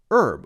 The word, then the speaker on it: herb: words have this but in the case of a word like herb Americans say herb we cut out the H sound and we say our our and herb for example h o